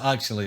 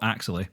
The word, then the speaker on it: Axelay: I take it you pronounce it Axelay. At least we're settled on that one. I think we're settled that I would also call it Axelay.